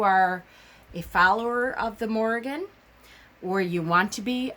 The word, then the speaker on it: Morrigan: her name is pronounced Morrigan, with an R, a kind of a roll off the tongue with the R. So it's the Morrigan.